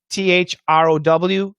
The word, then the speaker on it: throw: Through, throw. Yeah, the pronunciation is different. So this is for PG Marante, THROUGH, ooh, through, THROW, throw, through, throw.